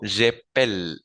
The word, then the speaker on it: j'appelle: Entonces, en el primero conjugado, j'appelle, necesito pronunciar esa segunda E. Entonces digo j'appelle, j'appelle. Y esa E se pronuncia porque tengo doble L, ¿sí?